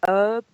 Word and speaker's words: herb: good it's a an herb we call it herb here but it's the same word it's just that we don't we pronounce the h and you don't in America but an herb oil